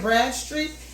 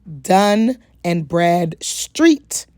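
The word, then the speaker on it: Dun & Bradstreet: so just calm down i said it wrong it's actually done and brad street and you'll just go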